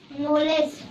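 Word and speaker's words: knowledge: नॉलेज। नॉलेज। अब बताओ नॉलेज में क्या-क्या लेटर साइलेंट है? के और डी हां तो नॉलेज में के साइलेंट है और डी साइलेंट समझ में आया?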